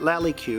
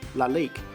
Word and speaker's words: Lalique: definitely sweet so my wife tells me that lolli Q is actually pronounced Lalique and is a very famous French brand it